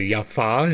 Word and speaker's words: Jaffa: much like with Yeshua there was no J it was y the J was a really a why that is why I pronounce it yafa and why I pronounce it Yeshua and yeesus considering the